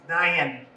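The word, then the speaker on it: nine: But now the number 9, we've heard that with the Beatles, but you know, around here, you can make that into 2 syllables. Nyan.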